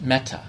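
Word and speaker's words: mettā: language which is a dialect um it is pronounced meta.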